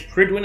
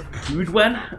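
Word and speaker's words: Prydwen: Funny is, Pridwin is a Welsh word that's actually said absolutely nothing like that. Yeah. Glad to see you alive and well, sir. So I think it's Prudwen, I think is how you say it in Welsh. I'm not sure because I've never been able to.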